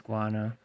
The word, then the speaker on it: Guano: I did pronounce it right. It is Guano.